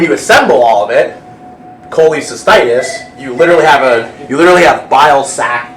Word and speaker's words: cholecystitis: Did anyone pronounce that? Cholecystitis. Close. Cholecystitis, yep.